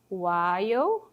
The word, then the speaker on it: while: While é assim que pronuncia, tá? Aqui no caso a letra L é muda, que tem muito isso em inglês, as letras ficam ali de enfeite, né? W. While, então você não fala a letra L.